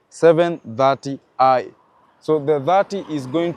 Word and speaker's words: 730i: it's going to be starting with the seven the three and the zero is pronounced as 30 so this one will be 730 I so the 30 is